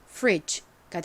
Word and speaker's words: fridge: 그리고 뒷부분 DGE에서 D는 묵음이고 G는 G 소리가 나죠? G. 그래서 발음해보면 fridge가 됩니다. fridge.